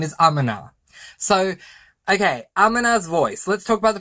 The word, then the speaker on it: Amina: And then I found out I've been saying the name wrong, so I apologize. This book is correctly pronounced as Amina's Voice. And I am so sorry that I've been calling her Amina, because I've been hearing her name is Amina, but it's not.